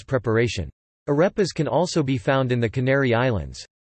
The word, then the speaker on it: arepa: Arepa, Spanish pronunciation, arepa, is a type of food made